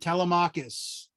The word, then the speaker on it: Telemachus: It's like Telemachus or something. Very good. Telemachus.